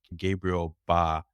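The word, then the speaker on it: Gabriel Bá: was written by Gerald wayi and illustrated by Gabriel ba yeah that's how you pronounce it and Gerald wey used to be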